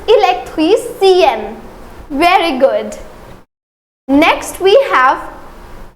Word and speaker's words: électricienne: Again, the pronunciation will change. It is électricien, but it is électricienne.